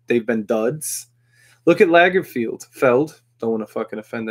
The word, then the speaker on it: Lagerfeld: But then he had, like, the classic Lagerfeld. Am I pronouncing that wrong? Let me look. Yeah, Lagerfeld.